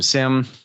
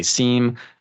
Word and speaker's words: SIEM: of people say seem I always tell people if you say seem you're wrong I've even heard it say uh Siam I think I heard last week so yeah joking aside it's a Sam we're gonna say sim over and over and over